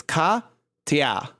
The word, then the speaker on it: Katya: about pronunciation of Russian names, is that everybody's mispronouncing Katya. That it's a E and not a E. And it's Katya.